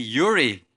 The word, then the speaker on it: Yuri: It's actually Yuri, guys. I am Yuri.